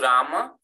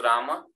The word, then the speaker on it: Ram: So even though it's written as Rama, and in Sanskrit we pronounce as Rama, the way in Hindi it works, we don't pronounce the last akara.